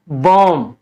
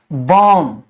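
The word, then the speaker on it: bomb: बाद भी आता है ऐसे शब्दों में हम बी का उच्चारण नहीं करते हैं एम का ही उच्चारण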